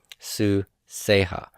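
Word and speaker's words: סוּסֶיהָ: So my pronoun here for 3fs is the ha ending, and then I have segel yod here, suseha, and the accent is on the samic, suseha.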